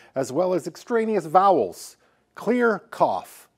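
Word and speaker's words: CLR CFF: Clear cough, or it's spelled CLRCFF.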